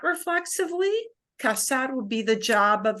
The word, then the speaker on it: casar: we took that verb casar uh c-a-s-a-r because there is a verb c-a-z-a-r it has the same pronunciation right but that is